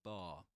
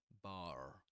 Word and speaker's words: bar: that this speaker says bar. He does pronounce the final ra at the end of the word bar. He says bar. But in standard Southern British English, you wouldn't pronounce that.